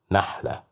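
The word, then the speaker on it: نخلة: Here we have fatha, so that's why we pronounced it as na, nahla.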